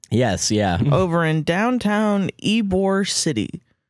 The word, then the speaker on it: Ybor: There's a real thing in Tampa, Ybor. Ybor, yeah. The fuck does that mean? It's spelled Y-bor.